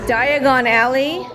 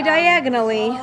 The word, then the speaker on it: Diagon Alley: room tour City Bridge Diagon Alley don't say diagonally you'll end up somewhere else so ravioli Okay so